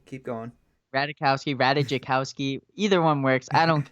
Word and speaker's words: Ratajkowski: the J is silent, but Radikowski, keep going. Ratajkowski.